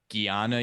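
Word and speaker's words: jnana: um Gana yoga which is spelled like J N A N A.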